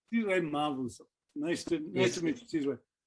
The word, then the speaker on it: Sizwe Mavuso: Okay, how do I pronounce Sizwe Mavuso? You're on mute, but it looked like it worked. That's very impressive. That's more or less, yeah, how you pronounce it. Sizwe Mavuso.